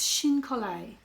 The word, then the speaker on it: chine collé: And that name is, and it's a lovely name, it's Shin collé. Shin collé. And it's a French word meaning, I think it means glue and you know, cutting and pasting basically.